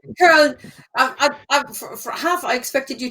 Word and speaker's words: Köln: Köln. For half, I expected you to say Cologne, which of course isn't spelled with a K.